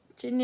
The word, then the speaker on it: Kinn: I buy Chin to the point where I was considering having a pilgrimage to Chin. Chin is, yep, that's Kinn is how you spell it.